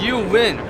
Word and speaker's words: Zhiyun: Is that how you pronounce it? It's you win. You win. Okay. In a way, Zhu and they win. put some Z into it.